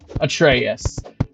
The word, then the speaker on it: Atreus: Artreus. Atreas. Huh? Atreus. Artreus. All right, then. Atreaus. Atraus. There you go. Atraus. So, not really an a sound, more of a U sound.